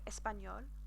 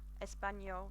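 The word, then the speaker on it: español: apologize for that but that's always got a yeah sound so espanol which is the language that we are learning right now ladies and gents and gentle folk espanol just remember that the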